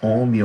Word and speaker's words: ohm: A unidade é o ohm, pronuncia assim mesmo, ohm, ohms, E a letrinha que a gente vai usar o R mesmo, de resistência.